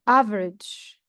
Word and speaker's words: average: Here, the first word, average. Average. You feel that there is no E in the word because we cut it fast.